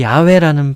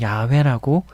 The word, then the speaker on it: 야훼: 묵상하고 깨닫고 뭐 이해하고 연구해 본 바로는 이 야훼라는 발음이 좀 더 정확한 것 같아서 저는 야훼라고 이렇게 발음하고 있습니다.